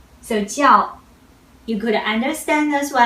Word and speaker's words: 叫: The first one, 叫. 叫. Let's pay attention this initial. This initial is 鸡. 鸡. You don't want to read it as 知, okay? So 叫, you could understand as well as to be called.